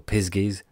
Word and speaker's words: pixies: The small people, the pixies, pronounced piskies or pisgies, the spriggans, and the knockers.